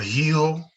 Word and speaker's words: hijo: El hijo, la hija. Hijo, hija. Again, the H is silent, so it's just an Hijo, E.